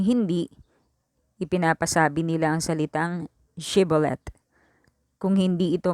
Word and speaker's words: Shibboleth: Yung mga taga-Efraim, hindi nila mabigkas na maayos yung Shibboleth. Ang bigkas nila ay Sibolet.